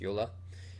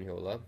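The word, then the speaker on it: Jolla: to form a company called Yola I think that's where it's pronounced Yola which created an operating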